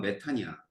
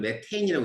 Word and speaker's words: 메탄: 바보라서 이게 이제 독일어에서 온 거거든. 그러니까 독일어를 읽으면 메탄이야. 근데 이제 지네들은 메테인이라고 읽거든. 그러니까 우리끼리 바꾸는 거야.